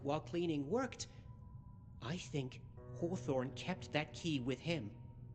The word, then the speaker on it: Hawthorne: But still haw haw, not ho.